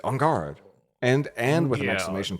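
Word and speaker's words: en garde: aspects I have to code switch into a fake French accent to say on guard and and with an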